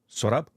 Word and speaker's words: Sorabh: Sorabh?